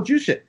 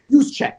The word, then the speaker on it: Juszczyk: Yeah, Kyle Juszczyk. How do you say his name? I think it's Juszczyk. Juszczyk. Kyle Juszczyk.